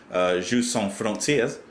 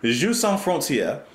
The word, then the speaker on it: Jeux sans frontières: No, you don't pronounce the S at the end of sans. I know that. Jeux sans frontières. I'm trying to say it. Jeux sans frontières.